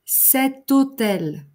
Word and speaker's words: hôtel: Le H muet, par exemple, un hôtel, l'hôtel, cet hôtel.